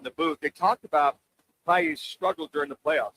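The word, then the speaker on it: Pagés: You know, Paye. Paye. Yeah, Paye. He's Cuban, right? Yeah. Cuban. And they were. But it's spelled Page. Yeah, but Paye. So here in the United States, it's just Andy Page.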